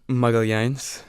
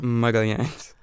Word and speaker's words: Magalhães: Magalhães. Say it one more time. Magalhães.